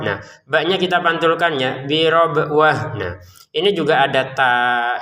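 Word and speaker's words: بربوة: Nah, huruf tan-nya terbacanya ha karena berhenti nanti mau dilanjutkan menjadi huruf ta lagi.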